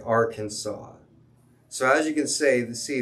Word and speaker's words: Arkansas: queen indian foreign and the way the french people pronounced it sounded like arkansas so as you can